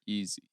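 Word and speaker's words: Ezi: Jewel Lloyd and Ezzy McBegor getting it done. That's how you say her name. Ezzy. Magmagor. Is it Ezzy or Easy?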